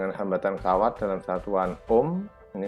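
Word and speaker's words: Ω: rumus jadi R = hambatan kawat dalam satuan Om meni membacanya Om ini ruh ini adalah hambatan jenis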